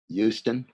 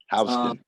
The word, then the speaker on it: Houston: Avenue and this street, sometimes mispronounced by out-of-towners to match the name of a city in Texas. Houston. Houston.